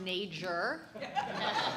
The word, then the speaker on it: Neger: So, it's actually pronounced major. Um, like it rhymes with major, but it's uncomfortable because when people say it, it sounds like a hate crime, right?